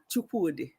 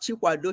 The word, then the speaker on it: Chukwude: Yes, it's Chioma Chukwude. Not Chikwado. Chikwado is different, and that one is Chukwude.